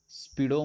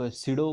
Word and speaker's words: pseudo: आता बरेच लोक हा जो काय PSEUDO, वेल काही लोक ह्याला स्पीडो म्हणतात. ठीक आहे. सो काही लोक सिडो म्हणतात. वेल मी तर सिडो फोर्स असं म्हणतो.